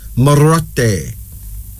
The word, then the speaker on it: Moroti: Moroti. Pronounced Marote.